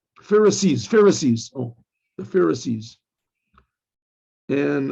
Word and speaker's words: Pharisees: the how do you say the anti-semites called pharisites pharisees pharisees oh the pharisees and um these were